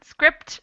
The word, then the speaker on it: script: In script, we pronounce the P, and in receipt, spelled the same, but we don't pronounce the P.